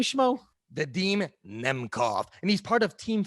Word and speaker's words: Vadim Nemkov: How do you pronounce his name, Schmo? Vadim Nemkov, and he's part of Team Fedor.